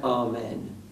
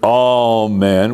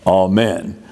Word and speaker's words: amen: we know that that many sing the word all men with the accent on the first syllable but but in the Greek and in the slanic and most Orthodox churches in fact keep the accent where it originally was amen so in that